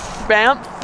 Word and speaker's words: Banff: How do you say that? Banff? Banff. With an M? Banff? With an F. Okay, Banff National Park.